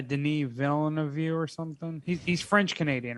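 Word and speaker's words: Denis Villeneuve: you say his name denis villanue whatever whatever it is not very good with french canadian but yeah denise villain of you or something he's french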